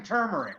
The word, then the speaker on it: turmeric: It's fucking turmeric.